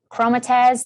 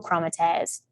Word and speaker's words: chromatids: on that next stage i pronounced that so wrong and i just got informed that i pronounced it wrong so we all make mistakes and pronounce things very wrong so please don't say that it's chromatids i'm so sorry about